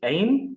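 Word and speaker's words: haine: brought together the words hatred in french it's aim h-a-i-n-e aim as in and love he brought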